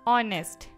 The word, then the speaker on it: honest: तो सबसे पहले हम समझेंगे कि साइलेंट लेटर होते क्या हैं। यहाँ पे एक वर्ड है ऑनेस्ट, ठीक है।